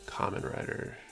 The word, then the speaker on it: Kamen Rider: Jan, it's pronounced Kamen Rider. Gonna help out non-weed buds. I probably should have known that. I should have realized it's Japanese and Kamen would make more sense than how I was pronouncing it.